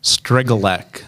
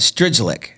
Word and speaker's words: Strygulec: me yeah all right I think I've been pronouncing it wrong for the better I've caught stridge lick but it's a lek we I respond to